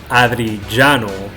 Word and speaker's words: Adriano: Actually, Drizzleboy, who is actually Adriano, who is actually Adriano, because he told me his pronunciation has a ja in there.